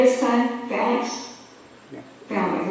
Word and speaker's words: phalanx: Phalanx, the accent's on the first.